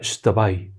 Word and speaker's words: Xtabay: la leyenda de la estaba se escribe x t pero se pronuncian yo estaba ahí y es una historia